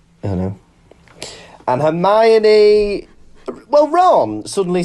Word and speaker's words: Hermione: life i think it's i don't know and hermione well ron suddenly sounds like hagrid when he's eating there's a bit where he says come on earn my knee am i talking like that it's literally spelled